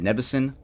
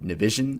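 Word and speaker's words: Nivison: I am so used to calling Ted Nevison Ted Nevision, but I get corrected a lot.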